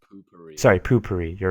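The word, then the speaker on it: Poo-Pourri: pronounced poopery.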